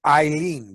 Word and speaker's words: Aileen: a Chinese name, and it's Eileen, but it's spelled like Aileen, the Irish. And so when I call it, it's always Aileen.